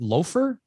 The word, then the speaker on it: Lather: Speaking of spicy, the other release that I'm pretty excited about is from our friend Johnny from Lather, but I think it's pronounced Loafer.